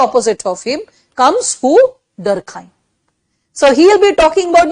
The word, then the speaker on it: Durkheim: details and durkheim okay please don't call him durkhim a lot of hindi medium teachers call him durkheem because in hindi medium books it's written durkheim i'll be very honest okay but pronounce him durkheim because that's the pronunciation okay so durkheim he